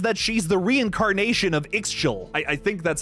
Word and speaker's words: Ixchel: she's the reincarnation of Ixchel. I think that's how you pronounce that. Itzel. It's Itzel, like schnitzel.